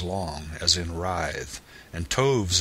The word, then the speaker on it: toves: how to pronounce slithy toves the eye in slythe is long as in writhe and toves is pronounced so as to rhyme with groves again the first o